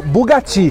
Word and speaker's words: Bugatti: E aqui do lado, pessoal, tem um Bugatti, ou Bugatti, que é a pronúncia certa.